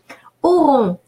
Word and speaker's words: auront: Auront. AU rule of pronunciation is pronounced O, and ON is pronounced nasal O, on, but that only when